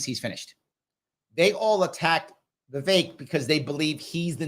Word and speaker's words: Vivek: His name is pronounced Vivek, not Vivek. I thought it was pronounced Vivek. It's pronounced Vivek.